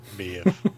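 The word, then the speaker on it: Maebh: It's got a B in it. I'm going, Maeve. He's going, how the fuck's that a Maeve? I'm going, because it's Irish.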